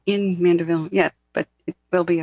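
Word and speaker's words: Mandeville: need a couple more helicop um leave that manderly Canyon thing sorry I'm saying it wrong I'm very sleep deprived at this point uh I I would mandaville excuse me Canyon I would be leaving ASAP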